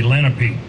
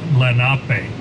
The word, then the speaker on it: Lenape: earlier our traditional name in our language is lenape many of you all have heard here around here they'll say lenape but the correct pronunciation is lenape it means the original people our name delaware